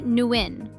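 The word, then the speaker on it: Nguyễn: Roughly Nguyen. 1 syllable.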